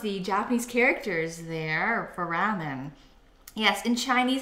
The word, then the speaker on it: ramen: in Japanese the la the L's are usually pronounced like in more of an R sound. So it's like ramen. So instead of like lamian.